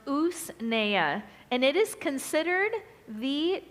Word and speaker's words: usnea: purchased and this is usnea It's u-s-n-e-a is pronounced us Naya and it is considered the top medicinal herb